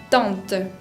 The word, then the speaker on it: tante: Para pronunciar la nasalidad de una vocal, lo que tienen que hacer, un pequeño consejo para que lo practiquen, es poner un dedo debajo de la nariz y sentir que el aire está expulsado por ahí, en vez de expulsarlo por la boca. Se expulsa por la nariz, se exagera la nasalidad de la vocal y se trata de pronunciar lo menos posible la N o la M.